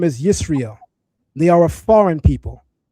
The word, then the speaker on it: Israel: There's no Maserites in 1205 BC and the Egyptians are pronouncing it Israel, not Yasher Allah.